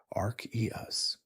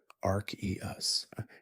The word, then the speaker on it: Arceus: Ar eus. Some say it differently, ar us. And both pronunciations hold truth.